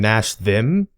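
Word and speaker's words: Nashor: biggest problem is Baron Nasher now of course depending on the pronunciation it varies but my problem is it should be Baron Nash them uh the baron doesn't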